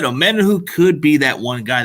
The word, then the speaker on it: Omenihu: So, like you just said, Omenihu could be that one guy that gets to him. Omenihu? Is that how you say it? Yeah, Omenihu. Omenihu. Okay. Like, kind of like Omenihu? Yep, Omenihu. Yeah.